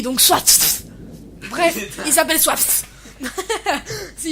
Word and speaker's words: Swatfh: Il s'appelle Soit... Non, Soit... Ça s'écrit S-W-A-T-F-H. Oui, donc Soit...